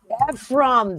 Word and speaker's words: Ephraim: I don't even know how to pronounce that. Brazier. Ephraim Brazier. Ephraim.